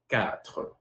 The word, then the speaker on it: quatre: In French, four is quatre. Quatre. It's like pronouncing the egg like Arabic, Dutch, German.